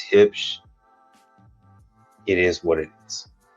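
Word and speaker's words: Huebsch: It's not Hubish, it's Hipsch.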